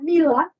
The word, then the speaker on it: Mila: When I worked at Mila, Rhymes with Sheila, as the corporate chef,